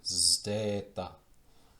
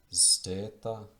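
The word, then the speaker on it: zeta: And then this one, Zdeta, and this also counts as two letters when it comes to prosody and syllable division. Zdeta, Zdeta, Zdeta, Zdeta.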